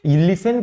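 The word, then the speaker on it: listen: ने किया जहां पे लिसन को कभी अगर लिस्टन पढ़ा जाता था लिसन को अगर कभी लिस्टन पढ़ा जाता था तो 10 को साइलेंट कर दिया गया क्यों क्योंकि अंग्रेजों के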